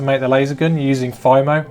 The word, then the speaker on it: FIMO: So now it's time to make the laser gun using FIMO, or apparently it's FIMO. Apparently I've been saying it wrong my whole life and my friend Alex corrected me.